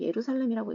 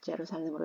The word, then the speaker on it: Jerusalem: 우리가 한국어로는 예루살렘이라고 읽습니다. 그런데 영어에서는 J를 그냥 J로 발음을 하거든요. 그래서 제루살렘으로 읽고요.